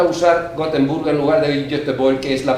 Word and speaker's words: Göteborg: A mí tampoco me importa usar Gotemburgo en lugar de Göteborg, que es la pronunciación sueca, pero para una minoría como quechua,